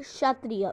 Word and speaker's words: क्षत्रिय: पढ़ रहे होगे ना, ये के जो है वो साइलेंट वर्ड है, तो दिस इज क्षत्रिय।